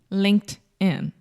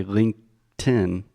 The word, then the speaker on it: LinkedIn: putting a t on the end linked linked Linked In Linked In yes technically I guess you could say linken but that's a little bit strange no okay